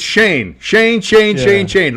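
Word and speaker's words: Schoen: may be Joe Shen you can't say his name right you can't do it um you're thinking of s h o it's just it's Shane Shane Shane Shane Shane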